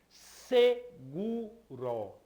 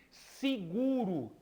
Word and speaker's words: seguro: Ela se escreve seguro. Não é? Mas como é que a gente pronuncia? A gente pronuncia normalmente seguro. Não é isso? Esse ele é pronunciado com o som de I.